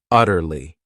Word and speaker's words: utterly: This word has 3 syllables, and the stress is on that first syllable, utterly.